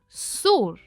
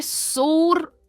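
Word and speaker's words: soar: हमारा next confusing pair है सोर और सोर। इसमें डिफरेंस है AR का और RE का, पर इन दोनों की प्रोनाउंसिएशन है सो। हम इसे सोर नहीं कहते, यह है सो।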